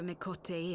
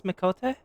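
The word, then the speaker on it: Miqo'te: Wait, that's how you pronounce Mikote? Mikote. I've already forgotten how she pronounced it correctly.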